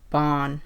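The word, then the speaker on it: Ban: Like Bon, who is the greed sin, his name is spelled B-A-N.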